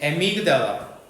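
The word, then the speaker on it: amygdala: 하이퍼 많은 센시티비티 민감성 과민감성 오 아마이그 달라 여긴 편도체 편도체에 연결이 돼 있대 편도체 발음 한 번만 다시 볼까요? 기다려 봐요. 의학구나. 음. 에미그델라.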